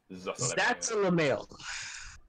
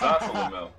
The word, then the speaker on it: Zasalamel: Keep pronouncing his name incorrectly. So That's a Lamel. Yeah, very interesting character. I mean, I knew about him already, but very interesting character to write about. And that character's name is Sabro. Dark Wizard. I'll call him that. It's Zasalamel. Zasalamel. It's Zasalamel. Short A.